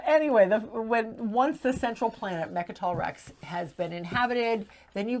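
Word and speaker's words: Mecatol Rex: At the end of every round, there is a political phase where as long as the central planet, Mechatol Rex, I said Good it job.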